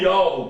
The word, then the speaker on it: Yahweh: O W aqui você lê como sendo U, e aqui aparece a última letra do nome do Pai. Portanto, o nome do Pai é Yahweh.